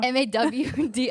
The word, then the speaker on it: Mardi Gras: Because that's obviously probably the correct pronunciation. Mardi, but it's Mardi. Mardi. But for us, it's Mardi. Mardi Gras. MAWDI.